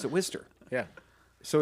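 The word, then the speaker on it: Wooster: like it was like where he worked which we're not going to whatever but I can totally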